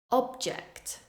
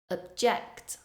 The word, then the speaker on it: object: First, I will say the noun form, stressing the first syllable. Then I will say the verb form, stressing the second syllable.